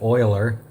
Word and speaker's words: Euler: Swiss and that's how he spelled his name pronounced it Euler and he lived from 1707 to 1785 his